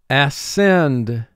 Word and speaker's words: ascend: When C is followed by E, I, or Y, it will almost always represent its second sound. Here, SC does not form a team because the S and the C do not remain together in the same syllable.